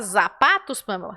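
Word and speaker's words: zapatos: que eu vou pronunciar então a letra z é muito fácil em espanhol muito fácil você viu a letra z no espanhol Você vai fazer eu sou da letra s assim e simples Você viu a palavra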